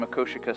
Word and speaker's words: Makoshika: We mispronounced it earlier. At least we think that that is the correct pronunciation, Makoshika State Park in Montana.